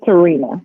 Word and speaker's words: Tehrena: you or a fan so how do you pronounce your first name is brown it's Terina Terina Terina you you don't want to know